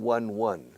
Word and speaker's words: won: Win, won. Won, el pasado, se pronuncia como el número uno.